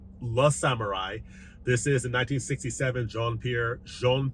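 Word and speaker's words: Le Samouraï: Starting with these 2 right here, La Samurai, not Les Samurai, as I mispronounced in my review of this title, but La Samurai.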